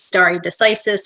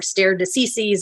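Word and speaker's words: stare decisis: in this case is Starry decisis or stare diseases or however you want to say it it's Latin it's a dead language if you listen to the justices you can hear them pronounce it all sorts of different ways sometimes the same Justice different different ways I'm going to use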